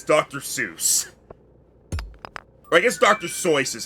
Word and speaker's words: Seuss: Seuss or I guess Dr. So is how it's actually pronounced but Dr. Sauce. He was uh he was German so it's actually pronounced Dr. So but I believe als